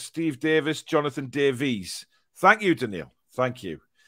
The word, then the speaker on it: Davies: Kath says, Davies, Davis. It's a Welsh name, and it's them pronounced Davies as Davis.